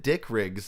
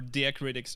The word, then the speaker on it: diacritics: critics okay dick rick i thought you said dick riggs and i was like i didn't mean like i mispronounced that but like uh my maybe it's pronounced like diet critics or or dia critics or i i'm not entirely sure how to pronounce that in english i know how it's spelled but like uh diacritics diacritics so okay got it yeah you said you said it right diacritic yeah no i